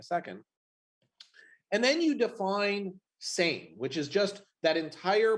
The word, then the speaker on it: SAME: we come to the same project which stands for self-assembling machine learning environments the l is silent um with same what